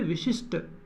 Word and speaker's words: विशिष्ट: उच्चारण देखिए विशिष्ट ट, यहाँ ठ का उच्चारण आ रहा है लेकिन गलत है, आना चाहिए ट, विशिष्ट।